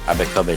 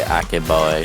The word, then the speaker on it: Abekobe: We still have the Abekobe section, so Yeah, that's how you say it. You're getting there. I wanted to say Akeboy, and I was like, that doesn't sound right.